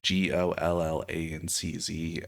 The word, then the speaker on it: Gollancz: originally published in 1987 by Gollanks. I assume that's how you say it. It's Gollanczz. And I mean, I've definitely read other things published by them and not known how to pronounce the name.